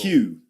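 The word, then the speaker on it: queue: Q. Q. Q. Just like the letter Q.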